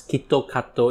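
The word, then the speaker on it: キットカット: And because of the word Kit Kat, it's being pronounced as Kitto Kato in Japan.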